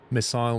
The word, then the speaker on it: missile: Missile, missile, fragile, fragile. Yeah, that's another that's definitely an Americanism. But no, I've noticed that a lot of Americans say missile and a lot of them